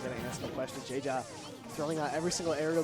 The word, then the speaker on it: Jeja: Much like Jeja. That's right. Very jovial guy. His name's very fitting. Pronounce it in Spanish as ha ha ha.